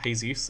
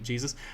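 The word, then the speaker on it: Jesús: Like, yeah, Jesus is just it's pronounced Jesus, because like J's are H's in Spanish, because they got the memo about how the alphabet works wrong.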